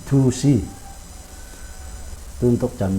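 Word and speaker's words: 두시: Nah, orang Korea itu D sama T itu digabung, jadi biasanya pengucapannya itu gabungan dari D dan T, jadi dusi.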